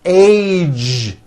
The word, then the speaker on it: age: the whole word age it's not H it's age with a Voice ending College postage stage pledge